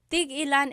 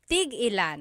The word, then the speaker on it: tig-ilan: So tig ilan, when there's a hyphen in it, you have to have that glottal stop.